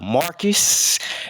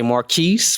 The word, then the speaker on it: Marquis: today htown we got Marcus you know they like to say Maris but I know my man say he he rather roll with the Marcus Marcus is how it's actually pronounced but Marcus Taylor man